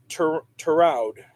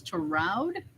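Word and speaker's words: Tureaud: ritter junkyard dog okay lawrence terraud pronounced that wrong he's an actor oh also also an actor um lawrence to route yeah drought mr t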